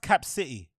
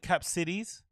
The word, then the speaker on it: Cap City: By the way, it's pronounced Cap City. I don't know why they call it Cap Cities.